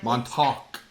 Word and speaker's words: Montauk: Montauk. Montauk. Hard seltzer. Montauk. You have to say it like Billy Joel.